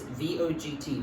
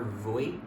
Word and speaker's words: Vogt: It's V-O-G-T, Vogt, or Voigt, I guess. I guess the G is silent.